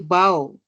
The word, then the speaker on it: bow: Here are when you meet a queen, you bow, which again must rhyme with how.